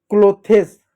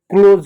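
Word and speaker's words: clothes: इस बात का क्लोथेस गलत होता है। क्लोज होता है। क्लोज क्लोज।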